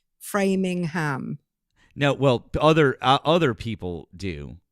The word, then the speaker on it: Framingham: People do actually pronounce the ham, though, don't they? Like Framingham. No, well, other people do, but here here's the like I don't want to. Yeah, Framingham.